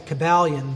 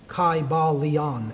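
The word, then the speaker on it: Kybalion: y sounds you know it would have been a long i sound chi ba leon and every syllable would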